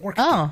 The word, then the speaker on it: Ork: It's an orca. That's actually how it's pronounced.